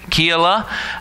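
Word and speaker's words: Keilah: called Keala and apparently it really depends on how you divide the syllables in Hebrew I'm going to pronounce it Keela and you can pronounce in different ways I shared with the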